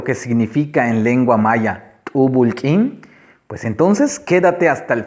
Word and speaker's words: t'úubul k'iin: Vamos a pronunciarlo. Chinilquín. Chinilquín. Repito, Chinilquín. La otra forma que tenemos es T'ubulk'in. T'ubulk'in.